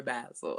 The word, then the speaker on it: Basel: is it for our basil or our basil basil okay i say it wrong all the time my sister corrects me it's a bad soul our basel okay all right rick